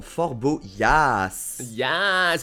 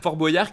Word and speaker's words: Fort Boyard: reprise de Fort-Boyard en Fort boyas Fort Boyard qui est quand même prononcé Fort Boyard comme des boyaux on est d'accord c'est